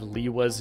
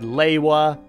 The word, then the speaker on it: Lewa: in the year 2024, we've gotten yet another pronunciation of Liwa's name. So we've had Liwa, we've had Lewa, we've had Lua.